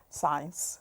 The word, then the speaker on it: science: is it in English science science because the c is silent and so with most